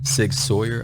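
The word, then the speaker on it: SIG Sauer: my new beauty today sig sawyer i believe is the pronunciation nine millimeter ask any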